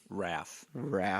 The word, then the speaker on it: Raph: Raph.